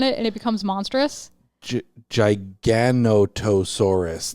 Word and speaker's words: Giganotosaurus: and it becomes monstrous Giganotosaurus that seems like an extra syllable that didn't need to be in there when it becomes monsters